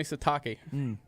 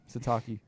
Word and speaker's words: Sitake: Sitake? Kalani Sitake. Kalani Sitake. Sitake.